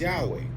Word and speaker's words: Yahweh: Yahweh Y HWH or Yuiwe again is commonly pronounced Yahweh and it is the personal name of God of Israel.